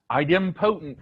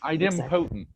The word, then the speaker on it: idempotent: Cindy, do you know how to pronounce that word? Idempotence. Idempotent. Thank you. Yes. Idempotent.